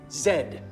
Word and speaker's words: zed: And it is most definitely pronounced zed.